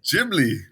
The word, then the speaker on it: Ghibli: Jibli. It is Gibli.